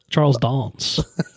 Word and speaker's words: Charles Dance: How does he pronounce how does he like how is he known? Charles Dons.